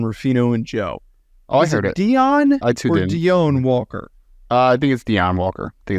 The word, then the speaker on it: Deone: be ja apostrophe Lynn so it's Dion you think it's Dion yes I I think it's Dion B Dion banan Dion Walker Dion Walker I believe that's how he pronounced I we're gonna go